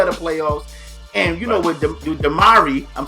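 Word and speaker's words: DeMarre: And, with Damari, I'm saying it right? Damari Carroll.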